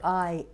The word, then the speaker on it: liaise: about this one l l-i-a-i-s-e it it can confuse you the correct pronunciation for this one is liaise liaise what about this one